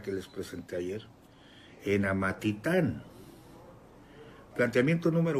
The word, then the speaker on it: Amatitán: se está casando en Amatitán. Yo lo estaba pronunciando mal, Amatitlán, con él es Amatitán. Es que ustedes son los que saben.